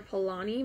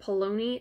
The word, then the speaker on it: Polanyi: Next is Brissinger by Christopher Polanyi. My husband corrected me on this. I kept pronouncing it Polanyi. It's Polanyi, so it's Christopher Polanyi.